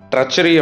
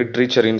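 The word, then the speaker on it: treachery: So treason அப்படின்னா ராஜ துரோகம், ட்ரச்சரி அப்படின்னா துரோகம் ஓகே. அது ட்ரீன் ஸ்டார்ட் ஆகுது, ட்ரீன் ஸ்டார்ட் ஆகுதுன்னு சொல்லி ட்ரீச்சரின்னு சொல்லிடக்கூடாது. You have to pronounce it அஸ் ட்ரச்சரி, treason ட்ரச்சரி, treason Raja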